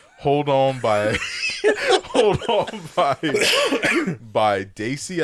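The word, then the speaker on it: Dacey: it hold on by Daisy I think that's how you pronounce them d-a-c-e-y Hold On by Daisy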